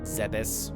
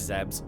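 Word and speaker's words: Zebes: of the planet that is zebs or was zebs zebus whatever you want to however you want to pronounce it whatever um it's zebs fight me um uh if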